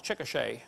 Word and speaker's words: Chickasha: 2005 textbook, and I pronounced it wrong as Chickasha, not Chickasha, Chickasha, Oklahoma. I got corrected during the break.